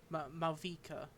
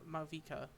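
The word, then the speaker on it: Mavuika: It's Malvika. Or Malvika.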